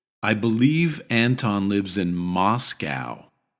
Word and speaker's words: Moscow: believe Anton lives in Moscow Moscow here we have the same vowels as in Anton but in Reverse instead of a a we have a a Moscow Moscow Moscow MOS and